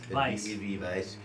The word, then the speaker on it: Weizen: tips we because of the W sound is a v sound it's a German so Vice and then and then